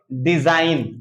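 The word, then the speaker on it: design: अगर एन से पहले जी कहीं आएगा तो वो जी हमेशा जो है साइलेंट होगा। जैसे इसको पढ़ेंगे डिजाइन, क्या पढ़ेंगे? डिजाइन। इसको पढ़ेंगे साइन, जी को कुछ नहीं पढ़ा जा रहा है।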